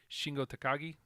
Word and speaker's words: Shingo Takagi: Dragon Gate's Shingo Takagi. Takagi? Never heard of this guy either. Takagi? I hope you just say it like you're from Chicago. Shingo Takagi.